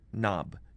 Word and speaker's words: knob: If you see a line over a letter, that would be denoting a silent letter, almost like K in the word knob, K-N-O-B.